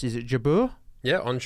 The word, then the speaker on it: Jabeur: I don't know how to pronounce. Is it Jabeur? Yeah, Ons Jabeur.